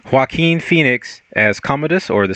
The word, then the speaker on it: Joaquin: Phoenix how do you pronounce how do you pronounce his name Joaquin Joaquin Phoenix as Commodus or the son of the